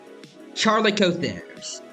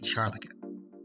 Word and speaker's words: Chalicothere: Also, big quack, I think it's pronounced like calico, like the cat. So, Charlicotheres. Charlicotheres. Or Chalico. I think the way I said it before is like I added an R. Like Charlico.